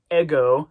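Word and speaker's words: ἐγώ: We're not pronouncing that breathing mark there, that smooth breathing mark.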